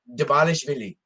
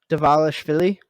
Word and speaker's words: Dvalishvili: Dabalishvili. Davalishvili.